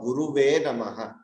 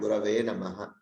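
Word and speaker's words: गुरवे: So if you look at it, it should never be Param Brahma or Guruve Namaha. They are wrong. It should be Param Brahma and Gurave Namaha.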